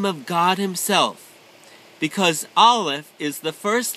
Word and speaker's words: aleph: we are going to talk about the letter aleph maggie do you know what the letter olive is yes i know how to pronounce it it's the letter olive and it looks like an x and underneath